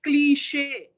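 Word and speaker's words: cliché: are moving out but when I say cliche the tongue is turning inside sh is inside sound so I'm not pronouncing it clich clich is going out but cliche is turning it in so that turning it in is called as an infliction so when we look at the words and there is a sign like this on the top of that word you need to turn it in when you are pronouncing so cliche cliche is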